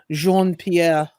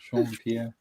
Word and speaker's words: Jean-Pierre: Oh yes, and I pronounce it the true Parisian way, Jean-Pierre. Jean-Pierre. Yeah, the trick is you just have to like say it like you have a mouthful of cat food and you want it out of your mouth as quick as possible.